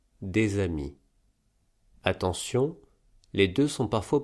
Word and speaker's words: des amis: Par exemple, dans des amis, on ne prononce pas le S de des quand il est pris tout seul, le S est donc